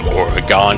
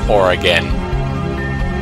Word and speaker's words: Oregon: was born there so don't say oregon it's oregon you guys or again seriously or again okay anyways that's juliet